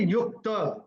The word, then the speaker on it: युक्त: तो ये युक्त नहीं होगा, ये युक्त, त पूरा बोलना है क्योंकि त पूरा है, त आधा है।